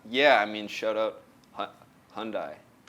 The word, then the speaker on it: Hyundai: I mean shout out Hundai I pronounce it wrong in my video as I'm now we're going to speak about those videos too um hearing from a lot of people I said hyai what did I say